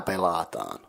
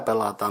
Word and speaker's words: pelataan: The second word pelataan is consisting of 3 syllables, pe, la, and taan. The first syllable pe is the same as in pension, so pe. The second syllable la is pronounced like in the game's name La Granja.